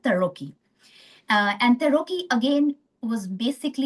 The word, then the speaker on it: Tarocchi: Tarocchi, I think that's how Italians pronounce it, Tarocchi.